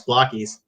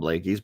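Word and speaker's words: Blakeys: I mean, they're called Blakies, but that's all right. Oh. Oh, I'm sorry. Sorry. Blakies. It's a pronunciation thing, I guess. You know, they say it one way in Japan, they say it another way in America.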